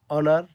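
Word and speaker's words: honor: হয় তখন এ বসে এইচের উচ্চারণ না হলে অনুচ্চারিত থাকলে যেমন অনার অনেস্ট এইরকম হলে এন বসবে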